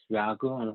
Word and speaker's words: Rangoon: Actually, the old way to pronounce Ragun, Yangon is Ragun.